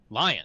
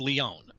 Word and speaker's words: Lion: Lion. I almost said Leon.